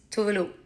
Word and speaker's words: Tove: don't know my name how to pronounce it the Swedish way is tuu so my name is tuve been my name my whole life too has been my